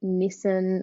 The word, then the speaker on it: Nissan: was a bright red Nissan or Nissan where you're from wherever you from um Nissan Nissan Americans say Nissan it's so weird it's niss by the way but you know